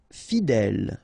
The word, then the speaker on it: fidèle: Fidèle. Final E, not pronounced, so accent grave here. L, fidèle, fidèle.